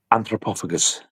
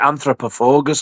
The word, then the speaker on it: Anthropophagus: Anthropophagus. Anthropophagus. The Noel is a pl anthropophagus. Anthropophagus. Yes, I've heard people pronounce it anthropogus. I'm like, what the are you on about?